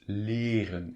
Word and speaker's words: leren: So there's just before the en, there's a single consonant, that's R, and just before the single consonant, there's a single vowel, and that is pronounced longly. It's leren. It's not leren or leren. No, it's leren.